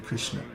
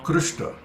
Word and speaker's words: Krishna: is there's no Krishna there's no I sound in Krishna it's Krishna and when